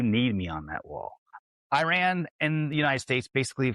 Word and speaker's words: Iran: the same mind that Iran is probably the bad actor and the USA and Israel are on the side of the good. I believe it's pronounced Iran, not I ran.